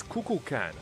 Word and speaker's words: Kukulkan: It's Kukulkan. It's like 3 syllables.